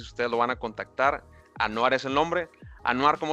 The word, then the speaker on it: Anwar: Gran gran persona en LinkedIn a todísimo dar Anuar Anuar me corrigió su nombre se no se pronuncia Anwar. Ano entonces ustedes lo van a contactar. Anoar es el nombre.